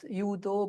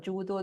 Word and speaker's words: judo: which you cannot correct even if you tell the judo 2,000 times it is not yudo but judo they would keep the udo version.